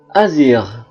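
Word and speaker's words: agir: diikuti oleh huruf vokal I dan e dibaca Z contoh azir gendarmeri magji logisel saage page garage azir itu aksi atau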